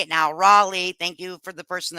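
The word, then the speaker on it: Raleigh: Rawleigh, I know how to say it now, Rawleigh, thank you for the person that told me, Rawleigh County deputies both make it clear that curious visitors are not welcome.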